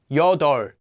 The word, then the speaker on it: 여덟: practice along with me hana notice that eight is pronounced as yoda so practice those numbers